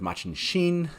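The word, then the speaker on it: Machin Shin: We have the interaction with Machin Sheen, as we found that it's pronounced.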